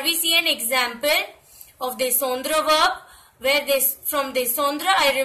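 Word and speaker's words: descendent: As you can see in the third person plural form, descendre, I don't put S. So I pronounce it as descend.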